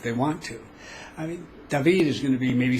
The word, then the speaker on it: David: city that many of you come thinking it's pronounced David it's David in any event along those roads that pass